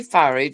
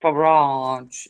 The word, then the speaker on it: Farage: No, a lot of people will say far because it's um Mr. Farage himself who it's pronounced Farage, you know.